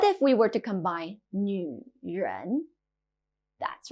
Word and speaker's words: 女: 女, female. 女, 女. This character can be a bit difficult to pronounce. It sounds a bit like a crossover between new and ni.